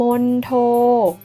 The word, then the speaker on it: มณโฑ: ส่วน แบบ ที่ 2 ออก เสียง เหมือน ทรหาร เช่น คำ ว่า มณโฑ มณฑล มณฑา กุล คีย์